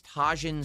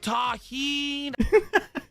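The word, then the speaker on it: Tajín: Oh, it's taheen. People are saying it's taheen. I don't know. I never heard of it before. Nobody cares how you pronounce the spice. It's a moot point. I don't give a I'll call it whatever I want. People are screaming in the chat. It's pronounced taheen.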